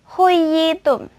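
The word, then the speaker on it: حُيِّيتُمْ: Kata khayyitum, huyitum, seperti itu ya. Itu nanti dibacanya diperkuat. Seperti ini contohnya. Huyitum, huyitum, huyitum, gitu ya, ditekan. Jadi bukan diperpendek, bukan juga diperpanjang.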